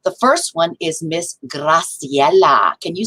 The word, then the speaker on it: Graciela: The first one is Miss Graciela. Can you say that? You have to roll your R.